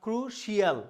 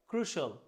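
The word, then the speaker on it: crucial: এই যে CIAL যদি থাকে ওয়ার্ডের শেষে, কোথাও কোনো শিয়াল নাই, কি নাই, সব জায়গায় কিন্তু শল। যেমন কমার্শিয়াল, essential, ক্রুশাল, নট ক্রুশিয়াল, কি বলতে হবে ক্রুশাল।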